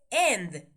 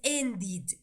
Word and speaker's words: ended: Entonces cuando le agregamos la ed, sí o sí tuvimos que poner, pero la pronunciación tiene que ser id. No podemos decir end. No, estaría incorrecto. ¿Estamos? Es ended.